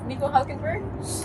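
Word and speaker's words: Nico Hülkenberg: I liked it but how is it it's Nico hulkenberg well you know the German way is obviously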